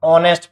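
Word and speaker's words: honest: इसको ऑनेस्ट पढ़ते हैं, क्या पढ़ता है, ऑनेस्ट मैन, ठीक है। ऑनेस्ट नहीं पढ़ते, एच यहाँ पर साइलेंट है, ये भी अपने को ध्यान रखना है।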